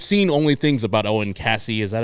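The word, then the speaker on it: Caissie: And I've seen only things about Owen Cassey.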